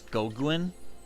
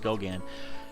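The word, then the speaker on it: Goguen: you might think it's goguin but because the French pronunciation is Gogan uh people expect me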